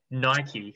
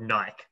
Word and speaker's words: Nike: that their shoes that their brand is called nike right but everybody always calls it nike nike says that they're nike or nike says that they're nike yeah that happened like years ago i don't but everyone just says nike because like it's like who's right the people who made it or the rest of the world obviously the rest of